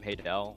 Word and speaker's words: Haydel: By all technicality, it is pronounced Haydel, but I don't give a shit. It's Haydel.